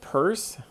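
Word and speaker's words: Peirce: reading or interpreting so sign signified interpretant charles purse that's the way his name is pronounced was an american philosopher and a scientist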